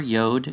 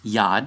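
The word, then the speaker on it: יוד: Replace the Yad. No, never Yod. It's Yad is the ancient Hebrew letter, which is a Y sound.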